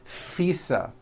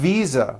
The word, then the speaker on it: visa: just received her International faisa correct no I said fisa with an voiced F I should have said V Visa with a voiced V living I am living